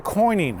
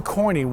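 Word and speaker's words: quoin: So look at the coining, okay? Coining spelled with a Q, okay?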